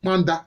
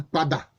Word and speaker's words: Panda: En fait, c'est Panda. Mais vous savez que le N ne se dit pas en langue Bété. Voilà, les Bété, ils ne peuvent pas prononcer le N. C'est toujours A. Ils n'ont pas pu dire Panda, ils ont dit Pada.